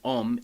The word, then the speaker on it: Om: So Om is actually Om, A-U-M, and so it's a combination syllable of 3 letters, and this can be